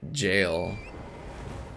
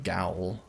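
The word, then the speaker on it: gaol: lepsis had to teach me how to say jail but it's spelled like um g-a-o-l i kept saying gowl things you wear to walk in gators oh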